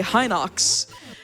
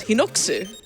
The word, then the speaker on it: Hinox: It's the same thing with Hinox, like where people say Hinox, and I'm like, but the Japanese pronunciation is Hinoksu.